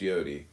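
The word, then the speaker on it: יוד: Comment on y pronounced yod transcribed as I y I am the link between comment on yod y o pronounced yodi transcribed as I y the number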